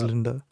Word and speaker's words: Linde: They had Linde in the Linde What's the pronunciation for him? I'm so sorry. George Linde.